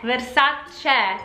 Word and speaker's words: Versace: Remember, the E at the end of the word is pronounced Versace, Versace, really.